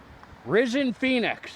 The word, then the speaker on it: Rysnfenix: already say that no I don't think so risen Phoenix it's pronounced scorched Earth preworkout is it worth it